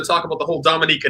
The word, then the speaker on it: Dominica: They'll say Dominica, Dominican. We are Dominica. And it's pronounced like that as well. Dominica. So Dominica. It's almost like for French people, it's like Dominique.